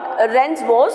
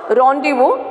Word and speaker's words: rendezvous: Okay, so not rendezvous, it's a rendezvous. It's a pronunciation it has given here. So we should have to pronounce like this way. Rendezvous, so it was with the comet and the detonation of the payload.